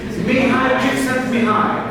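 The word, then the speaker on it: Mihaly Csikszentmihalyi: The exact means You pronounce it like this. possible. Mihai, Chicksen's Mihai.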